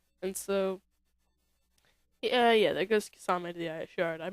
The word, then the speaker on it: Kisame: Kisame, however you want to pronounce the name. I like Kizame, but I suppose it's pronounced Kisame.